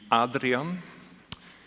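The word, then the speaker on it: Adriano: We'll try to pronounce it as his parents would do, which would be Adrienne.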